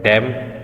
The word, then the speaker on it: DEM: Digital elevation model को हम short term में डैम या DEM भी प्रोनाउंस कर सकते हैं।